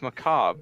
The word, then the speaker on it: macabre: in there i guess do you pronounce it macabre no it's macabre but you you pronounced it with an r fuck i clicked something